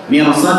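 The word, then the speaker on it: مرصاد: Mirsad itu tebal ya, karena meskipun sebelum huruf roh itu harokatnya kasrah, dilihat setelah huruf rohnya ya. Setelah huruf rohnya itu adalah huruf sad, huruf isti'la ya. Jadi cara bacanya adalah tebal ya.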